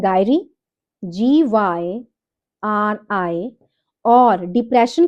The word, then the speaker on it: gyri: जब corpus callosum की elevation होती है, एलिवेशन की प्रोसेस को हम बोलते हैं गायरी, GYRI, और डिप्रेशन की प्रोसेस को, डिप्रेशन, जब कॉर्पस कैलोसम में डिप्रेशन होता है उसको बोलते हैं हम सल्काई, SUCCI।